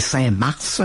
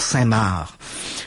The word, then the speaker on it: Saint-Mars: du côté des Français, ça s'écrit Saint-Mars, comme la planète Mars, mais les Français disent toujours Saint-Marc.